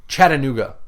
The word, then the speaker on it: Chattanooga: Chattanooga, not Chattanooga. I don't know how you say it. I'm not from your town. Chattanooga, that's how you say it.